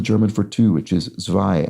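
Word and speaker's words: zwei: for two which is zvai and rhymes with Thai uh the difference being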